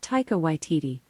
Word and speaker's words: Taika Waititi: you say taiko by tt she's like i pronounce that taika waititi but i'm always working on how i say